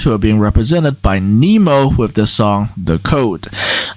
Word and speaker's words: Nemo: From Sweden, we move to Switzerland, who are being represented by Nemo with the song The Code. Some people have also pronounced their name as Nemo, which is also an acceptable pronunciation.